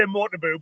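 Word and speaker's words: Motobu: The Cumbrian accent, I would say Motabu, but either's fine.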